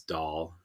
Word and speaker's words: Dhall: build tools that uses DAL, the DAL language as how do you spell that? DHALL. It's like the Indian dish.